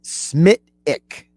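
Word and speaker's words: Smithwick's: By the way, Tom and Margate tells me it's I'm basically pronouncing the whole thing wrong. It's a Smithwick Ale. All right, Smithwick Ale.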